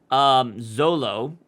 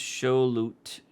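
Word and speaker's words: Xolotl: Zolo, pronounced Shulut.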